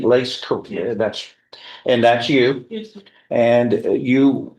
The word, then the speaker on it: Lace: Am I pronouncing Lace?